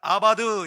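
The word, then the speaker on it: עבד: 섬긴다 이 말은 히브리어로 발음을 아바드 이렇게 하는데, 제사는 자바드예요.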